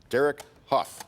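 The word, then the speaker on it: Derek Hough: Derek Huff, is that how you say it?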